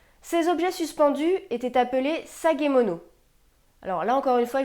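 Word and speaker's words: 提げ物: Ces objets suspendus étaient appelés sagemono. Alors là, encore une fois, je vais vérifier la prononciation.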